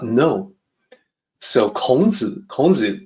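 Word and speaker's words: 孔子: not know so kons konzi is confucius so the way to say his name is a little bit different in mandarin sometimes kong foods those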